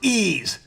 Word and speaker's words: Ys: What do you mean it's pronounced ease?